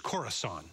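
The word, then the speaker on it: Khorasan: Mar by the way I mispronounced the name of that group it's corasan cor uh let's go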